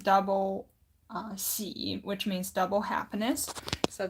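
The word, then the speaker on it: 喜: Now this character, we pronounce it as xi, so it's third tone.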